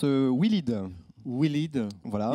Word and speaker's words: Willid: Alors, on prononce Willid.